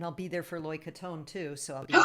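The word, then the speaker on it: krathong: we'll see, and I'll be there for Loy Katone too, so I'll be able to. Yeah. That's my So favorite Thai holiday. Katone. Oh, mine too. So Loy Katone, we float the what's called a katone or kratong is how it's spelled.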